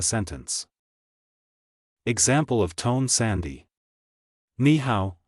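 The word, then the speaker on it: 你好: Ni hao, hello, is usually pronounced as ni hao, where the first tone changes to the second tone due to the presence of another third tone.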